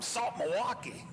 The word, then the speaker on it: South Milwaukee: But on the other hand, I used to say Nick Schmidt from Salt Milwaukee, which is kind of the way you pronounce South Milwaukee.